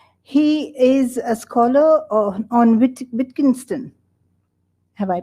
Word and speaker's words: Wittgenstein: He is a scholar on Wittgenstein. Have I pronounced it right?